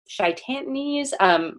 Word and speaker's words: chitinase: seen it written out, it looks like chitinase. C-H-I-T. That's not how you say it. Chitinase.